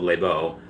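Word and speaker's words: Lesbo: a a bar called labo and it's spelled l-e-s-b-o it's called labeau um it was pretty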